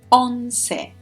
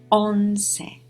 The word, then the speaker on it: once: pessimists let's start on say on say so it's written the same way as once but it's pronounced very differently so 11 is unsafe